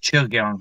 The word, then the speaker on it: Chugyung: It's pronounced Chugyung. It's a CH sound.